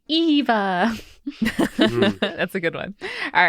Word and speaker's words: Eva: I also want to point out that Eva, in describing how to pronounce her name, said, like in Wall-E, Eva.